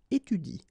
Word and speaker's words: étudie: So in that case, if you want to pronounce it correctly, you should pronounce it like il étudie. Okay, so the last thing that you will pronounce will be the vowel I here.